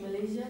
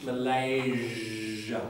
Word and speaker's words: Malaysia: What has it got to do with Malaysia, the Z thing? Malaysia. Yeah. Because it's got a Z in it.